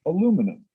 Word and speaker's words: aluminum: Another one is a different pronunciation between American English and British English, the word aluminum. Aluminum in English has a stress at the beginning.